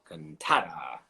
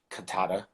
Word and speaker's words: Cantada: CANTADA. I'd always say it like CANTADA, but it's right.